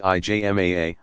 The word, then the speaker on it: ijma: Ijma, pronounced IJMAA, of legal scholars.